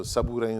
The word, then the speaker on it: Sabourin: Sabrin is a French-Canadian name. It's hard to pronounce if you're not French. So Sabourin is the proper pronunciation of it.